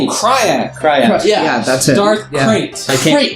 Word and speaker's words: Krayt: same time that Darth Kyra, or I'm saying it wrong. It's KRYTT. It's weird. Yes, like Krayt.